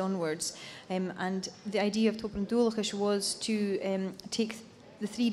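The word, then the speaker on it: Tobar an Dualchais: So, I mean, you're part of, I'm going to get this pronunciation, Choberan Dulcas? Toberan Dulcas, yeah. I was close.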